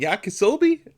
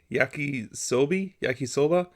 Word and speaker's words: yakisoba: just ramen noodles and cup of noodles and yakisobe. That's how you say it, right? Yakisoba.